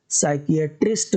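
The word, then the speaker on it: psychiatrist: ऐसे मानसिक रोगियों का इलाज जो करता है उसको साइकियाट्रिस्ट कहते हैं। साइकियाट्रिस्ट कहते हैं, पी साइलेंट होता है, साइकोलॉजी होता है, साइकोलॉजी मतलब मनोविज्ञान होता है।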